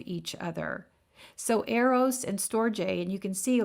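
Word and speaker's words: storge: the english bible becomes love another word is storjay s-t-o-r-g-e that word stands for family love so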